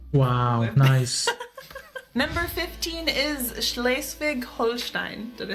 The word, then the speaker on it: Schleswig-Holstein: Number 15 is Schleswig-Holstein.